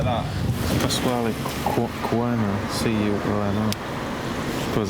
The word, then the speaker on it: Cuomo: You spelled it out to me, it's not spelled like that. Pasquale Cuomo, C-U-O-M-O.